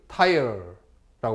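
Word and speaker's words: Tyre: 남쪽에 있는 것이 두로, 영어로 tire, T-Y-R-E, tire라고 발음합니다. 두로.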